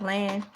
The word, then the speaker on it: Elay: questions my name is La pronounce that la like the city I'm not from but